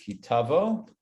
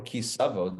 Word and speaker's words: Ki Tavo: torah portion this week is kitavo or kisavo depending on how you want to pronounce it i grew up saying kisavo but you know the israeli way and the modern way of saying is kitabo so you know all those ashkenazic pronunciations can go out the window all right so we